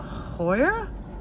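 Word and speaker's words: Heuer: that's a tag uh hoya i believe that's how you pronounce it h-e-u-e-r this is a woman's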